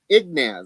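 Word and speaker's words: Ignatz: And he is one of up for an Ignaz.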